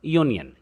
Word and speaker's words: union: कि एक वोवल है, परंतु जब हम इस वर्ड को प्रोनाउंस करते हैं तो इसकी इनिशियल जो साउंड है वो है य, और यह हिंदी के व्यंजनों में आता है.